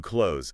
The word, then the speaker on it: clothes: So I need to close the window, and I need new clothes. Same sound. Precisely the same sound. Use the word close as your mental guide.